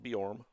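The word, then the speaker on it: Bjorem: Borm is B J O R E M. Pronounced Borm.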